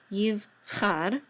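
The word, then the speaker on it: יבחר: shiva is silent, and this is a chet with a patach, and the resh says char, yiv char, and this means will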